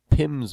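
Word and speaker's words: PIM: called pins and what pins means is just the way we pronounce P I M which is an abbreviation for penalties in minutes because penalties are varying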